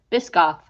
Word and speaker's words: Biscoff: Biscoff. Pardon? Biscoff. Biscoff? Biscoff. How do you spell it?